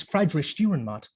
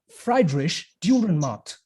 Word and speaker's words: Friedrich Dürrenmatt: Name is Friedrich Dürrenmatt.